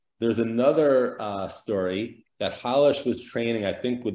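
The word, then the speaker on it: Rolls: it to him right it's actually pronounced in Brazil Hollis it's polish but they see you know it's Hollis that's his name but we'll call him Hollis because that's the correct pronunciation from what I've been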